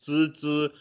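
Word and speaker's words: 郅支: It's actually, in modern Mandarin, it's pronounced Zizi.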